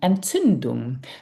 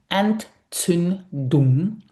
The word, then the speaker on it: Entzündung: Eng Entzündung. Now, this is quite tricky to pronounce, so just listen and repeat after me. Eng Entzündung.